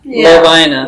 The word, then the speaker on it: Lovina: So, the so the correct pronunciation is Lina. Lovina.